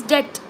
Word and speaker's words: debt: uh another example is debt debt is Sala in Canada debt d e BT B is silent we pronounce as Deb okay we ignore the B so how do you